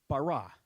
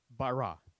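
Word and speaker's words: ברא: sound it out right because the aleph on the end is silent the word is barra okay and it means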